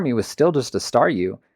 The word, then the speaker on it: Staryu: was still just a Staryu, I could never pronounce its name right. It always ended up sounding like saw you.